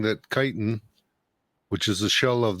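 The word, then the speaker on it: chitin: the kiten it's it's spelled chitan but it's pronounced kiten the kitens in there are a god- awful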